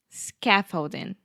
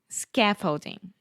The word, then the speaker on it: scaffolding: Scaffolding. Yes, the stress is on the first syllable, and that first vowel sound is the ah, very open ah, like cat, hat, master, scaffold, scaffolding. Scaffolding.